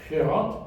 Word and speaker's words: Gerard: And you can already hear how from what is more the Dutch pronunciation, even though it's a typical Afrikaans name now, Gerard, that the G represents a guttural sound, a rough sound that is made in your throat.